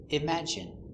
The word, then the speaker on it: imagine: And sometimes, it sounds like in. Imagine, in imagine.